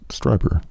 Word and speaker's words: Strieber: If anally probed, I will not pronounce Whitley Strieber correctly." It's Strieber.